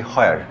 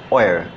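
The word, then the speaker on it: where: দেন আমি নাচ about ওয়ার, তো ওয়ার শব্দটা আমরা অনেক ক্ষেত্রে উচ্চারণ করে থাকি হয়ার, তার মানে হ দিয়ে উচ্চারণ করি। বস্তুত পক্ষে যখন WS দিয়ে কোনো শব্দ হয় তখন উচ্চারণটা অনেক ক্ষেত্রেই হ দিয়ে হয় না, এটা অ দিয়ে উচ্চারিত হয়, যার জন্য খরিচ প্রনাউন্সিয়েশন হবে ওয়ার, that's the real and খরিচ pronunciation.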